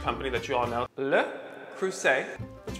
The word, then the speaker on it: Le Creuset: that you all know le creuset that's right the t is silent so let's start with